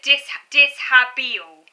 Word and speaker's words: dishabille: That's it, dishabille. That's it. It's pronounced dishabille.